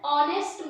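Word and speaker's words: honest: Silent है। An hour. फिर है एन ऑनेस्ट मैन, इसको मैंने क्या पढ़ा?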